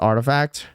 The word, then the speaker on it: RTFKT: this was an SB it is pronounced artifact artifact rafing Rafi is